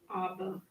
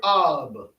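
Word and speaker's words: אב: Ob like a and b. Ob. All right. So this word ab it has been translated in English to be father.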